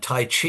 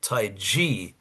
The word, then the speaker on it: tai chi: And Tai Chi is not how you say it. Taii is the way you say it.